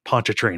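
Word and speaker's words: Pontchartrain: like okay now pronounce this word like Lake pona train I was like I cannot I I can't remind you enough I am a 16-year-old sir but I will pronounce this word and that's why pona train has been uh kind of pounded into my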